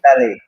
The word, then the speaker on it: Mihintale: I'm in Colombo, and after just finishing this class, we are leaving for Mihintele, as Bante told me, it's pronunciation. Mihintale.